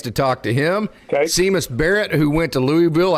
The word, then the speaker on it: Seamus: It's spelled Seamus. Sorry, Coach. It's Seamus Barrett.